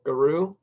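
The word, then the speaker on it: Giroux: Yeah, I think the X is silent, so Guru.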